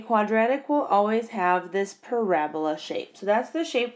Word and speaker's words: parabola: is called a parabola so it's spelled and it looks like parabola but it's really pronounced parabola and parabola is this